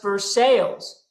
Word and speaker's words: Versailles: There is, Brad will attest to this, there is a city in Kentucky that is pronounced Versailles. "Hi, welcome to Versailles." Don't you mean Versailles like in France? No, I mean Versailles like in America.